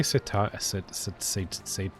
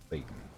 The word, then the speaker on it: seitan: Did I say satay? Whatever. Seitan. Today you crumbed and fried it. Satan. It's pronounced Satan. Satin? Satan. Like the devil.